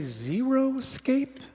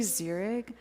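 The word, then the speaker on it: xeric: and I noticed that a lot of people say Zero Escape and I don't think that's the right word no it's really Zurich and it's spelled x-e-r-i-c that's right yeah a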